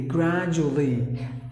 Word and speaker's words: gradually: no gradually no gradually gradually one letter is silent excuse me so you